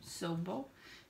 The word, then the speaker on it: Sobo: It's called, I don't know why I'm going to pronounce it because, but you know, Sobo. It looks like hobo, but Sobo.